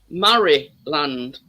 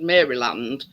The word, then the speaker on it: Maryland: Ing and all partners partner said it was pronounced Murray land now Murray is m-a-r-y Highway and Maryland because it's spelled Mary um Partners partnest um pulled me up about and I said Maryland and he says it's not it's pronounced Murray